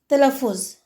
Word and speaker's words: تلفظ: وہ مفتوح کہلائے گا۔ مثلا تلفظ، اس کے الفاظ میں تے اور لام دونوں مفتوح ہیں کیونکہ دونوں پر زبر ہے۔ اسی طرح سے عمل،